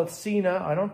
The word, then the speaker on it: Sena: my 10c evo from cena i call it cena i don't call it senna because i'm an english teacher and i'm a